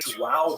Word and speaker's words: João: And he rose up in the ranks until finally King John III, who actually, I'm going to pronounce it, João III, and to give thanks to Helena Brazil,